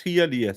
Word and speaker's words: Hialeah: I have been taught by Valhalla, who is a cunning linguist, that in Americas you just pronounce every letter as it's written. So Hialeah. It's Hialeah.